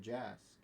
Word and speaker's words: Jask: And just to explain that real quick, if you take the C in Jack and you pronounce it as an S, well, you get Jask.